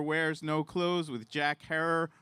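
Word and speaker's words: Herer: uh author of How to Grow Medical Marijuana, editor of The Emperor Wears No Clothes with Jack Herror, Rhymes with Terror, producer of the documentaries The Union: The Business Behind Getting High and The Culture High.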